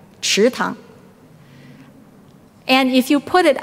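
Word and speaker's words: 池塘: Now, the pond is pronounced what? Tang, right? Chi tang.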